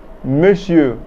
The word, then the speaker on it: monsieur: Monsieur Topman means Mr.